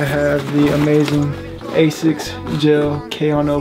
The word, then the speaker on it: Kayano: the amazing A6 gel Koo 14s is that's how you say it I've heard people say Keo and K but it's spelled k a y a n o someone say Keo 14s